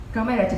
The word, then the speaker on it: Comirnaty: Comirnaty vaccine. Co coming from COVID, Myrna, but the N will not be pronounced.